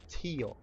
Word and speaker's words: tio: a physical thing that you're pointing at is te te now you'll notice that they sound very